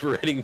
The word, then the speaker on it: Reading: But yeah, for the many years, I always thought it was Reading Railroad, and when I found out it was Reading, my mind was blown, and I was like saddened.